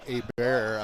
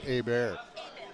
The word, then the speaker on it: Hebert: It's actually pronounced Hebert. I'm sitting right next to his mom. Yes. Hebert? It is pronounced Hebert.